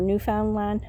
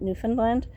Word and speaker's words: Newfoundland: I had a conversation with a person from the Maritime provinces, that's Nova Scotia, Newfoundland, or Newfoundland, but a lot of us pronounce it Newfoundland.